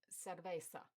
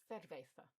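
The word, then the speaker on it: cerveza: You can easily tell this from the pronunciation, because of the sss sound rather than the th. So, servesa rather than thervetha.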